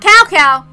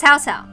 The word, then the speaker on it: Cao Cao: The Shima clan, a noble family that the Cao Cao invited in as advisors. It's not Cao Cao, it's Cao Cao, okay? The C is a T.